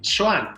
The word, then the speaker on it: Xoan: Entonces, si tu nombre era Juan, la pronunciación del nombre era Xoan.